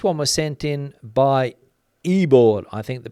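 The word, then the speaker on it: Ivor: The spelling was I-V-O-R, but Ibor was the pronunciation, the phonetic pronunciation that was next to Ibor's name.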